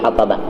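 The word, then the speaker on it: حطْب: Qauluhu al-hatab bisukunil ba'i lil wazni, ya, hamlil hataba, hamlil hatabi. Tapi ini hatab bacanya dengan sukun ba lil wazni karena wazan.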